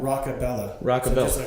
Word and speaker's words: Rockabella: it one more time rockabella rock like rock music Bella all right so everybody